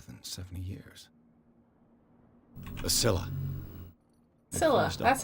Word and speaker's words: Scylla: Scylla, that's how you pronounce the it.